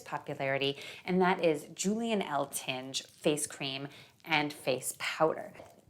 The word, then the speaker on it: Eltinge: facts around his life starting with how you pronounce his last name the only thing that i could find like from the time where i heard somebody pronouncing it was this short clip of this thing from the late 20s where he was on like this variety show reginald dunny introduces him as julian l tinge and i was like